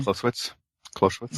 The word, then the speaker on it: Clausewitz: Clausewitz's legacy. Am I pronouncing that properly? Clausewitz?